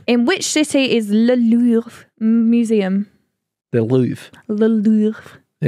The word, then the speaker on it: Louvre: It's the Louvre.